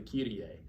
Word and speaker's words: Kyrie: So most people use Latin pronunciation when they're speaking the text of the Kyrie.